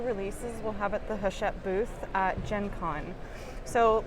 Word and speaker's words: Hachette: We are here with Danny from Hachette. Yes, I got it. I pronounced it correctly.